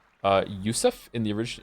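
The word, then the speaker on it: Yosef: Joseph is pronounced uh yusf in the orig in its original Hebrew form therefore I will call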